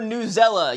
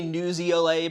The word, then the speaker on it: Newsela: over new zela yes new zela is the proper way to sell it say it i used to say news ela back in the day but newsela is the correct way to say it fun fact but today